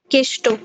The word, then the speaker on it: কৃষ্ণ: যেমন যেমন যেমন কারো নাম কৃষ্ণ। ঠিক আছে? কিন্তু তাকে কেউ কৃষ্ণ বলে ডাকে না। কেষ্ট তাকে বলে কেষ্ট।